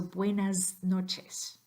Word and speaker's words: buenas noches: - that comes before notice that s at the end needs to be pronounced as a Z so buenas noches again exaggerated but you'll